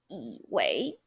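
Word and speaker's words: 以为: So instead of saying 我以为, we would say 我以为, second tone, third tone. 我以为, okay? Now let's move on. 以为 yi wei.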